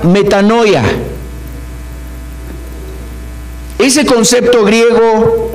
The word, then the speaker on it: metanoia: Esta palabra que leímos aquí, arrepentíos, en Mateo 4:17, la palabra arrepentíos viene de un concepto griego que se pronuncia metanoia.